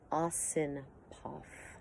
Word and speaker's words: Osipoff: There's a few gentlemen, but Walter Osipov. It's spelled Osipoff.